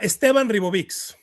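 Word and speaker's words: Esteban Ribovics: I I can never know how how do you pronounce his name in Spanish? Uh, Esteban Reovix.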